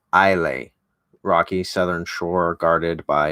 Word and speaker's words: Islay: of buildings by the sea of Islay pronounced pronounced Isle a rocky southern shore guarded